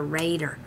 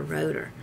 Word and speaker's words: Rader: Oh, and I figured out his name, how to pronounce his name is Dr. Rader, not Dr. Roeder. So it's a Raider, like Raiders of the Lost Ark, or, you know.